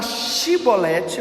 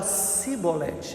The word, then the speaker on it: chibolete: Quando eles pediam para falar chibolete, o som do X, o efraimita falava cibolete, ele não conseguia pronunciar.